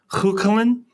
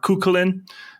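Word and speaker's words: Cú Chulainn: But there's Cuchulainn, is one way to pronounce it, or Cuchulainn.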